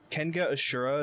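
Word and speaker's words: Kengan Ashura: Called Kenga Ashura. It's a fighting anime and it's dope as fuck. You need to search up the plot. Yes, that is the proper way to pronounce that correct.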